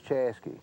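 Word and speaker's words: Chaska: But Chaza, which is spelled C H A S K A, is Chesky and uh uh K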